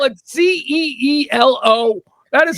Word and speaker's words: cielo: Oh, cielo. There you go. Oh my gosh, you've been saying your dog's name wrong this whole time?